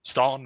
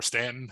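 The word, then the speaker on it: Staunton: as far away as stalin or stanton depending on if you're from virginia or not how you pronounce that the town in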